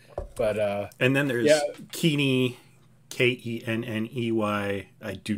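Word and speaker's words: Kenney: uh and then there's keaney k-e-n-n-e-y i do not know how to pronounce it everybody wants to say kenny but it's not kenny uh asset jesus and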